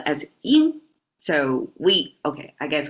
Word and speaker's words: 因: This means cause pronounced as in. So we Okay, I guess we can remember it as in and yan, right? Everybody knows that. And in yoga is y I N and same pronunciation flat tone in and that means